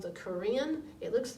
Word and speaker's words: Karen: with different groups from Burma they're called the Korean it looks like Karen doesn't it kar en but it's pronounced Korean and the chin yeah that's kind of funny